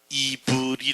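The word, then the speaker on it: עברי: 히브리어가 아니고요 히브리 하는 말에 원래 히브리어로 직접 발음을 하면 이브리 아는 말이에요 이브리 이브리 아는 말이 이브리 이브리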